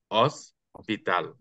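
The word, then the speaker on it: hospital: দেই তাহলে কি হবে অস্পিতাল তা আমরা এই ও থেকে শুরু করবো ঠিক আছে ও থেকে শুরু করবো এইচ বাদ এখানে তাহলে হবে আপনার অস্পিতাল তারপর এখানে দেখা যাচ্ছে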